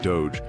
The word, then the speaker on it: Doge: It's pronounced D-O-H-J, like Doge in Doja.